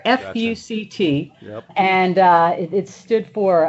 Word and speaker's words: FUCT: a clothing company called fuct not pronounced all together fct and uh it stood